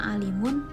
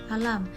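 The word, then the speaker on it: عالم: ini bisa jadi keliru karena salah baca harusnya Alimun tapi kita bacanya alam jadi kan beda Alimun kan orang berpengetahuan sedangkan alam yaitu semesta yang ketiga komponen universal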